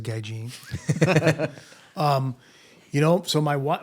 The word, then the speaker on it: Gaijin: um so so so Gaijin or Gaijin you know you can pronounce it either way from from what I understand as a guy Gene um you know so